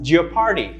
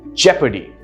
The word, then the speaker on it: jeopardy: is sometimes pronounced as your party right incorrect the correct pronunciation is jeopardy jeopardy notice the spelling jeopardy right that's how it's pronounced the par is quiet the r sound is quiet the next one well